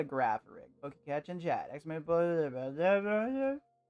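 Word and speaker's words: Girafarig: It's called a Grapharig.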